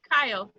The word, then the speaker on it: Kyle: Oh, Kyle. She minds making a telephone call. Rhymes with dial.